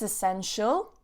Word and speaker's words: essential: It's essential. Essential. So careful with that T-I, sh, essential.